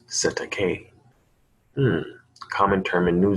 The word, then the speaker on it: Cestui Que: letters then it represents assistant QB trust pronounced cetacaine mmm common term in